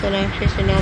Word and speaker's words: Sonakshi Sinha: Sonakshi Sinha, pronounced Sonakshi Sinha, born 2 June 1987, is an Indian film actress and singer.